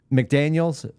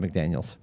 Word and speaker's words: McDaniel: Did you see the meme that McDaniels? I said McDaniels. I got his name wrong. Help me, Miami coach. It's McDaniel. Is it McDaniel? Isn't it Mike McDaniel? It's Mike McDaniel.